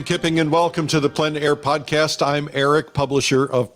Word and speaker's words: plein air: This is the PleinAir Podcast with Rhoads, publisher and founder of PleinAir Magazine. In the PleinAir Podcast, we cover the world of outdoor painting.